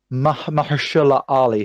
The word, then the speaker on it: Mahershala Ali: It's an independent, all ethnic minority cast with see if I can pronounce his name. I think it's Mahershala Ali, who won the Best Supporting Actor, and I knew him from House of Cards.